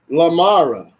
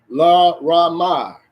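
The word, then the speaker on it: Laramie: Lamara, here we go, FEMA detention facility. La Ramar, that's what it's pronounced.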